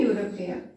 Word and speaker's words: European: So in this case, if it is useful, university, European, in this case a European, not an European. Because the sound here not comes about E, it is coming YU.